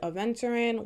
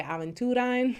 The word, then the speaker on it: aventurine: All right, so pile number 2, you guys are the ones who chose the Aventurin, which I used to always say Aventurine because of the group Aventura.